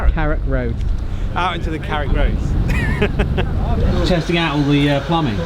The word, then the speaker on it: Carrick Roads: Out into the Carrick Roads.